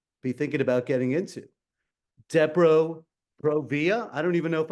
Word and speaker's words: Depo-Provera: So it is pronounced Depo-Provera.